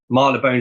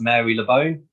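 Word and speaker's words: Marylebone: other one is like we have like uh Marla bone Station in London which looks like it should be pronounced Mary Le bone but it's marlabone um there's there's in Oxford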